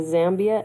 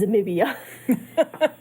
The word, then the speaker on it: Zambia: The thing that was going through my head for the first half of the book, the entire time, was Trump mispronouncing Zambia as Zamibia.